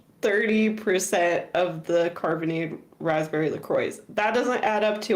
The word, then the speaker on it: LaCroix: And then you're going to get the LaCroix. Is that how you say it? Yeah, LaCroix. Yeah, that's right. LaCroix.